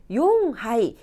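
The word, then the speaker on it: 四杯: 붙었어요 발음 주의하셔야 됩니다 넉자 용 하이 시하이 아니고 용 하이라 라고 합니다 다섯 자는 고하이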